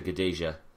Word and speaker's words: Gadelha: Claudia Gadelha. I learned that. That's how you pronounce it.